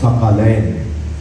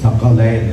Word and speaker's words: ثقلین: کو تبدیل کر دیا، اور وہ ہوگا ثقلین، میں تمہارے درمیان دو بھاری چیزیں نہیں، ثقلین، قاف پر زبر۔ پھر اس کا ترجمہ